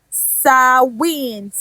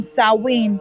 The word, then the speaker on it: Samhain: So Halloween originated from the ancient Celtic festival Samhain, which we know, of course, is not the same spelling as the pronunciation. It is actually spelled Samhain, Samhain. And of course, another point